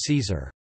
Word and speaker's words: Caesar: Thus, his name is pronounced in a similar way to the pronunciation of the German Kaiser.